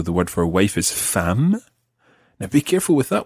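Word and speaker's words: femme: ma okay so the word for wife is fam now be careful with that one because if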